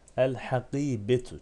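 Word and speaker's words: الحقيبة: Önemli olan el ha. El ha. Lam okunur. Peşine gelen harf ise şeddetsiz okunur. Gerisi aynı. El hakibetu.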